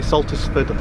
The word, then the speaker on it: Saltersford: Are you sure that's how you pronounce it? It is, yeah, definitely Saltersford Lock.